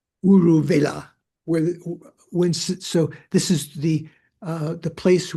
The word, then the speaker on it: Uruvela: How do you pronounce that, Paul? Just the Uruvela. Uruvela, so this is the place where they had meditated together.